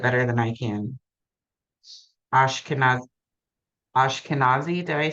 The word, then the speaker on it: Ashkenazi: Ashkenaz Ashkenazi, did I say that right?